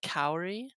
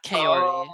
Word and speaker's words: Kaori: I'm gonna just say my name is said Kaori not kale I know someone else